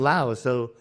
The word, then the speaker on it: Laos: Laos is the correct English pronunciation, but it's in Thai and Lao. In the language itself, it's Lao. So let me call it Lao.